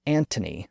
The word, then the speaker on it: Anthony: the Latin name Anthony it's often spelled with a th today because early modern writers and printers thought it was ultimately a Greek name but it's not it's a Latin name as such it was pronounced Anthony with a t sound and was spelled with a letter T in the middle there was never an H but when the H